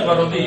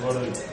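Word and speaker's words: Garaudy: Gaurodí o Gaurodí, se pronuncia Gaurodí, es un francés. Tiene un libro excelente, Gaurodí. Gaurodí porque es francés, se pronuncia Gaurodí.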